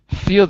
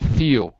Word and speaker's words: feel: The L's become kind of like a U, like ooh, like feel, ew, ew. It's more like a ew. So it's not exactly silent, because it's not having to fee this way, but it's feel. So you make kind of a U sound, feel this way.